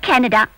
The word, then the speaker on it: Kannada: sweet and Rich language how how do you spell it h k a n n a d a Canada it's not Canada it's Canada Canada yeah oh thank yeah